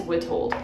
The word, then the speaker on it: Witold: It is Witold.